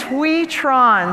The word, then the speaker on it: Hui Tran: Miss Hui Tran.